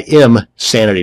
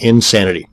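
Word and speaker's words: Imsanity: another one is imanity that's I IM sanity not Insanity both of these once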